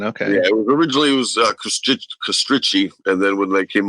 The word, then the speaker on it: Kostrick: How do you pronounce it? Is it Kostrick? Yeah, Kostrick.